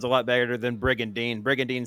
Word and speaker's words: Brigandine: it whatever brigand sounds a lot better than brig and dean brigandine sounds like a toothpaste that being said